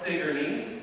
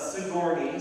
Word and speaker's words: Sigourney: Sigourney, Iowa. Yes, it's pronounced Sigourney. It's not Sigourney, so Sigourney Weaver mispronounces it. You have to emphasize the right syllable.